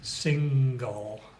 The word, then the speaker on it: single: Single. If we were going to divide single, which is a two-syllable word, into syllables, we would draw that division between N and G. So you can hear the G.